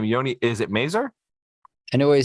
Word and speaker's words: Mazor: name Yi Is It merer Anyway he said it's fine but uh it's it's from Hebrew actually it's it's mazour Maz I say mazour but M works it's